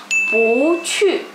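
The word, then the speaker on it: 不错: Pu pada saat bertemu nada 4 berarti dia akan berubah menjadi nada 2. Jadi kosakata ini dia akan dibaca pu cu, tapi dia akan berubah jadi nada 2. Jadinya dibacanya pu cu.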